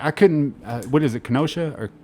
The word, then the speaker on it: Kenosha: Kenosha or Kenosha? Kenosha.